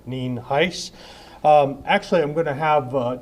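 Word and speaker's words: Nienhuis: Dean Heist it's spelled n-i-e-n-h-u-i-s and it's pronounced Neen Heist actually I'm going to have talk a little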